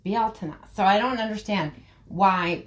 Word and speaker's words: Beltane: sin right but belt is always said as belt when it's not. It's actually pronounced Balta.